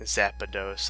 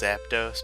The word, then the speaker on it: Zapdos: Zapdos. I add an A. It's supposed to be pronounced Zapdos, but as a kid I would always say Zapdos.